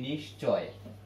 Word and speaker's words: নিশ্চয়: যুক্ত হলে আমরা বলি নিশ্চয়, নিশ্চয়, চ ছ যুক্ত হলে বলি নিশ্চয়। শিরস, শিরশ্ছেদ, নিশ্চয়ের উচ্চারণটা হবে নিশ্চয়, নিশ্চয়, এটা হলো উচ্চারণ আর এটা হলো মূল শব্দ।